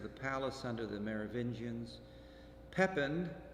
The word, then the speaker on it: Pepin: Pepin, or Pepin, if we want to keep pronouncing things in French, is educated by the